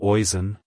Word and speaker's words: Oisin: as oon oon oon to pronounce it correctly emphasize the ash sound and use a soft in at the end like Hello oen Goodbye oen if you